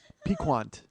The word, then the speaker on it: piquant: All right, piquant. You pronounce the Q.